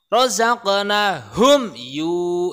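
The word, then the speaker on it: رَزَقْنَاهُمْ: Ada mim mati bertemu dengan huruf ya, harus jelas bacanya. Rozaqnahum yu gitu.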